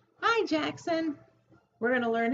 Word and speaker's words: Jaxson: o n jack sun you have two syllables in your name jackson two claps jackson so let's see what